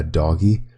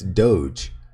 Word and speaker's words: Doge: we settle in the reality that doge is pronounced uh doggy as in the doggy coin it's not it's doge i understand i've i've heard so many people